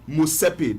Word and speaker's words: Motsepe: That T is silent. Motsepe, if you want to pronounce them, but it is Motsepe when you want to write them out. M-O-T-S-E-P-E. But to pronounce them, now Motsepe, that's M-O-S-A-S-A-Y. Yes, and then P-A-Y, Motsepe.